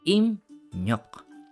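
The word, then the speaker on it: 입력: So first syllable natin nag-end sa piyup, and then followed by ryok. So yung piyup magiging M, and then yung real magiging N. So ang magiging basa is imnyok.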